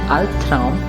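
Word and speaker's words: Albtraum: we have seen earlier if B B comes at the end of a word or a syllable its pronunciation changes too the word al-tram has two syllables so B is coming at the end of the first syllable and that's why its pronunciation will be and that word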